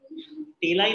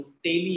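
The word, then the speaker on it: taille: टेलाई नहीं है वो, तेली है। प्रोनाउंसिएशन अपना प्रॉपर करो, तेली।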